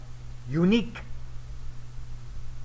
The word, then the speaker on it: uniq: Pero es la manera que se escribe y se pronuncia unique.